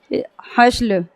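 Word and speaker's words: hustle: आया है ठीक है तो उसका स का उच्चारण निकल रहा है एसटी का उसी तरह से आपका आता है हसल हसल हसल है इसको हसल पढ़ते हैं हसल हसल मीस होता है किसी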